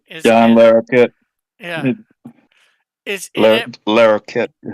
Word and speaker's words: Larroquette: John Laloquette, or I'm not sure how you pronounce his name, is John in it. Larroquette.